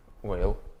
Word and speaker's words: Weyl: Weyl, maybe. This name should be pronounced Weyl.